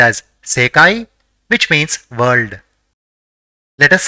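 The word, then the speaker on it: せかい: the third is e so it will be pronounced as sekai which means world let us see the third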